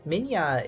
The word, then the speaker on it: Minya: Minya is pronounced like the Russian word Minya, and I think that I pronounce it right, but I don't speak Russian.